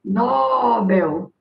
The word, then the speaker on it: Nobel: Nobel. Sílaba forte é Bel.